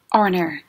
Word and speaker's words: honor: Cho nên, mạo từ an còn đứng trước các từ mà bắt đầu bằng âm H, nhưng mà âm H này là âm câm. Ví dụ như chữ honor.